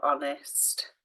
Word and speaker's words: honest: be one and that's silent h our honest having an N at